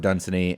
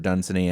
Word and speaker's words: Dunsany: the last year, Lord Dunsany, and I will mention, perhaps we're mispronouncing it. I've heard Dunsany and Dunsany, but Dunsany kind of rolls off the tongue.